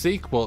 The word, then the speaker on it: SQL: The reason it's pronounced sequel and not SQL is the original language was actually spelled out as sequel.